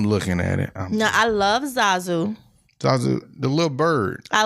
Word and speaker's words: Zazu: Zuzu is gonna be You don't even know how to pronounce these folks' names, right? It's Zazu.